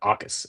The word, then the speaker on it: Jacas: I'll do Mendoza versus Ohio State for you guys, and then he said, "Do Gabe Jacas?" Is that maybe Akas? The J is silent. Akas.